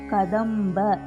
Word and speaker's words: கதம்ப: கதம்ப கதம்ப பாக்கு மேல 3 இருக்கு, பாலுக்கு வர பா. கதம்ப.